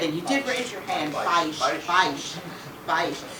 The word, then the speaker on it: Beisch: And you did raise your hand, Beisch, because it's a diphthong. The A and the I form a diphthong. Okay, remember that from school, folks? Okay, all right. Okay. So Todd Beisch is an architect, and